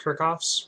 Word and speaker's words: Kirchhoff: going to explain uh K kof's rules um I've also heard it pronounced Kirk off's rules um in any case